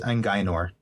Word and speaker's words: Angor: just looked it up it looks like it is angor angor that's what I thought yep absolutely you know